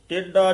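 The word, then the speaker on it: ਟੇਢਾ: ना राती बावे मारग टेडा चलना टेड डड नाल नहीं बोलना टडा नहीं कहना डा टडा ला के उच्चारण करना बावे मार्ग टेडा चलना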